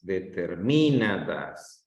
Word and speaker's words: determinadas: Entonces, la sílaba que se escucha mejor es en na.